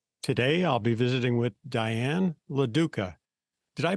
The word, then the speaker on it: Diane LaDuca: over the world today I'll be visiting with Diane laduca did I pronounce that correctly you did oh okay good